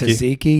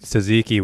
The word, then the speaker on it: tzatziki: Tzatziki. Yeah. It's like yogurt sauce. Yeah, that's a good sauce. But this stuff in this ketchup bottle they're squirting, what is that? Well, it's like tzatziki with grease in it.